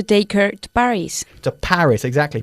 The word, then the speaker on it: Paris: her to Paris the Paris exactly Paris is pronounced differently we put the emphasis on the first syllable in English Paris you know Parise okay Paris good stuff